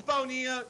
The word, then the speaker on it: Bonilla: what he's talking about the spanish pronunciation for that name is bonilla so godzilla would not